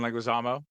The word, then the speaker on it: Leguizamo: It was from memory until I was looking at it this week that John, I can't pronounce his last name, is the clown. Leguizamo? No, John Leguizamo.